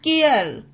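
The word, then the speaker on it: care: सी ए आर ई केयर इसे भी कर नहीं पढ़ा जाएगा के अर पढ़ा जाएगा केयर एम ए आर ई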